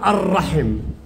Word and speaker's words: الرحم: لو سألتك يا راجح، يا راجح، وقلت لك كلمة الرحم، ما نوع اللي فيها؟ لامن شمسية أم قمرية؟ شمسية. كيف عرفت؟ لأن تنطق الر والراء عليها شدة.